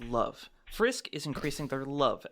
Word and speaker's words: LV: Um, actually it's not pronounced level, it's pronounced love.